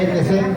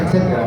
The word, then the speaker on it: etcétera: No se dice etc, se dice etcétera, ¿no?